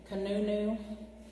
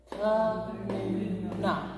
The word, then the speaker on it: Kanuna: Some people, you'll hear them say Kanunu. I haven't learned that one. But Ka-nu-na. That's the one I know.